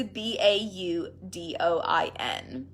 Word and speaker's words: Baudouin: This other technique, the Baudouin technique, I am so awful with pronouncing at times. It's Baudouin.